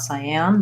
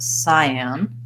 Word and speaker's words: cyan: the syllable stress there oh no they're marking it as first syllable so I wasn't quite right it's not cyan but Siam that sounds kind of strange to me but let's listen I